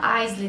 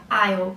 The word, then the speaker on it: aisle: Não se fala aisle, tá, gente? Por favor, é aisle. Eu vou colocar aqui como escreve, tá? Vocês vão ver que a escrita é muito diferente da pronúncia.